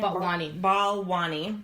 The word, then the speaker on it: Balwani: Balwani.